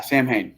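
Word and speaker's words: Samhain: bring up Halloween really quick or uh say Sam hell is the Irish we call it I miss pronouncing that Sam ha Sam ha yeah Sam ha which the night of Halloween for the is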